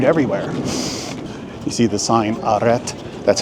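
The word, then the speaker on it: arrêt: You see the sign aret? That's how you pronounce it. It's pronounced aret.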